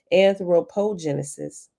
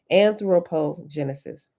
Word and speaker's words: anthropogenesis: the generation of humans anthropogenesis and anthropo anthropo i think i said it right first time anthropogenesis both parts of the